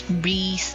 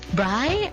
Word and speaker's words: Bree: Is it Bri? I thought it's Bri, but turns out it's Bree because it's Brielle.